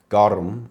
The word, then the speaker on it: garum: had in their time, garum, I think is how you pronounce it.